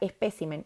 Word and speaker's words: espécimen: encanta esta lista porque estas palabras son las únicas palabras del español que estando en plural van a cambiar el lugar de su sílaba tónica en singular carácter en plural caracteres en singular espécimen en plural especímenes en singular régimen en plural regímenes bien lo voy a